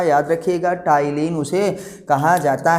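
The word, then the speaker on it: ptyalin: पुराना नाम क्या है भैया सिलेवरी एमाइलेज का, याद रखिएगा, टाइलिन उसे कहा जाता है। अगर आपको दिक्कत हो रही है, ये पी साइलेंट है, तो क्या कहते हैं, टाइलिन।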